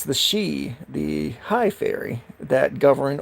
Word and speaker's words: Sidhe: There is the high fae that are known as the She. That's Sidhe. For those who do not know, that word is pronounced she.